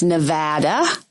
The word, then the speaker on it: Nevada: Yeah, if you're going to be on the radio or TV or just wandering around the Strip, it's Nevada.